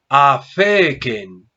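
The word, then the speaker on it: ἀφῆκεν: Divido en sílabas. A, fe, ken. Tengo 3 sílabas. Última ken, penúltima fe y antepenúltima a. ¿Cuál es la sílaba tónica? Esta es la sílaba tónica, la que lleva el acento, sílaba tónica. O sea que el acento está en la penúltima sílaba.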